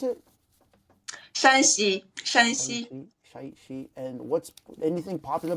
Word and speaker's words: Shanxi: okay, what's popular about how do you pronounce it? Shanxi.